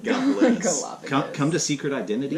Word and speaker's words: Gallipolis: They'd say Gallipolis instead of Gallipolis.